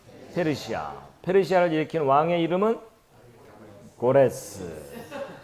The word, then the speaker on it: 고레스: 페르시아를 일으킨 왕의 이름은 고레스. 예, 고레스. 뭐 저게 이제 뭐 나라마다 발음이 달라서요. 어느 곳은 뭐 키루스, 뭐 고리, 뭐 다양하게 발음을 해요.